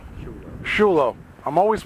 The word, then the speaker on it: Sciullo: I have here the man Brad Skulo. Shulo. Shulo. I'm always pronouncing that wrong.